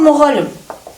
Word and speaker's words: Мұғалім: Всегда в казахском языке ударение падает на последний слог. Даже имена Жазира, Айвар, Оқушы. Оқушы. Ударение падает на Оқушы. Мысалы, мұғалім.